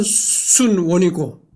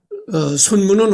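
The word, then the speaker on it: 孫文: 요즘에 순원, 그러니까 중국 발음으로서는 순원이고, 우리 한국식 한자 발음으로는 손문입니다. 그래서 대중매체에서 여기를 할 차례죠. 여러 가지 대중매체에서 손문은 어떻게 다뤄지고 있는가를 이제 리딩해 보도록 하겠습니다.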